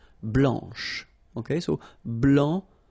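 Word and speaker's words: blanche: and then Blan okay remember when you combine this C you get the sound sh blanch okay so BL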